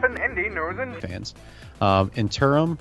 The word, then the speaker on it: Eternium: Interim, is that how you say it? Interim? Eternium is how I pronounce it.